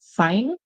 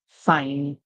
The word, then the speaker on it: sign: The G is silent, the N makes the sound. You may have seen a word like this before. So for example, in the word sign, you see I, the